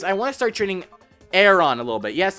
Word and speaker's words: Aron: want to start training Aeron a little bit yes it's called Aeron not Aon on not Aon or Aaron as I called it there's a lot of